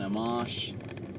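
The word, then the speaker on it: Amash: uh Justin uh and and I've still the pronunciation of his last name is starting to elude me Justin amamos is how ran Rand Paul says it uh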